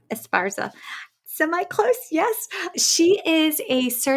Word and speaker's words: Esparza: you're going to have to make sure I pronounce this correct, Inez Esparza? Esparza.